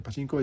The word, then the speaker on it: pachinko: on the horse racing pachinko pachinko is how to say it's yeah in your future